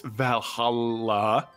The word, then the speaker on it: Valhalla: Yeah, I understand that Asgardian sometimes can be hard to pronounce. You know, the Y can be an E, but it's Valhalla.